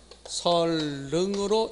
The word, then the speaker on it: 선릉: 선릉이 아니라 설릉. 그러니까 이것은 어떻게 읽어요? 설릉으로 읽는다는 것.